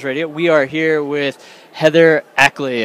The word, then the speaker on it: Heather Ackley: We are here with Heather Ackley, right? Yep. I pronounced it correctly. Yes. And her, what is this? Just Heather Ackley, yep.